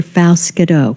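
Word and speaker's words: Faust-Goudeau: so much and and it's Senator Faust Godot it's a little bit different pronunciation but you did great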